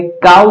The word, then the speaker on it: cow: उसी तरह से है COW अपने पास में है काउ, इसको पढ़ते हैं काउ, क्योंकि सी के बाद में ओ यहां पे आया है।